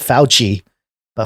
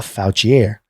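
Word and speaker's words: Fouchier: is I mean it's it's spelled fo u CH ier so not foul Chee a foul chiere when Ron a.m.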